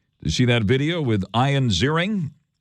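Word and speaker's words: Ian Ziering: see that video with ion zering yep that's how he pronounced his name ion zering remember him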